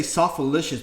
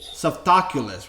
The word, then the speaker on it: Softaculous: I I used to I used to say sof alicious but it's not sof alicious it's sof aulus or something that sosis or something that I I you you know French Manuel how do you say this saulos saulus softaculous right softaculous yeah saulus I don't I